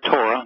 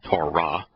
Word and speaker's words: Torah: T-O-W-R-A-H, because it's written T-W-R-H in Hebrew, and both the W and the H are vowels, and so it is pronounced Torah.